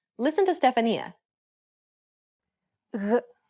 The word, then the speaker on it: γ: This consonant sound occurs when you try to pronounce a G followed by an A, O, or U vowel. Listen to Stefania. Γ, γ, γ, γ.